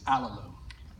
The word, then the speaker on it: Alalu: Alalu, not Alulu, like one of the young researchers said. It's Alalu.